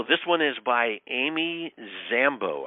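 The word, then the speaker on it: Dzambo: So this one is by Amy Zambo. I think that's the pronunciation, but her last name is spelled D-Z-A-M-B-O.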